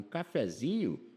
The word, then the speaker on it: cafezinho: Agora, se você for tomar um cafezinho, não põe acento, porque a sílaba tônica é o zi.